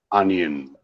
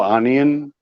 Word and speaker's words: onion: So you see, because of the fun, students remember, oh, onion. They will never pronounce like onion, you see, onion. So you see, when you pronounce onion, you are pronouncing ah.